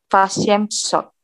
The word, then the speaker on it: восемьсот: O-nya di sini Fashemshot. Jadi Fashemshot. Fashemshot.